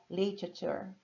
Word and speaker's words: literature: Então eu diria, por exemplo, literature, literature. Temperatura, olha, digo sílaba por sílaba.